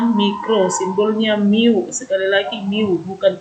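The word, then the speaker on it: μ: Ini bukan U, ini adalah mu, membacanya mu.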